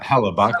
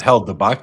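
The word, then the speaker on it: Hellebuyck: But uh Halabach, not Helbach, just just Halabach.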